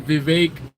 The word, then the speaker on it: Vivek: that the 50 that Vivek rhymes with cake is definitely what I